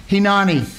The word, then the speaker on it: Hineni: But the title is Hinani. Hinani. As you know, the I's in Hebrew are pronounced with an E. So it's Hinani.